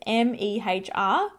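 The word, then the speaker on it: Mehr: holy grails uh mac mare i always wonder if i'm pronouncing that right it's m-e-h-r meh it's like meh by far hands down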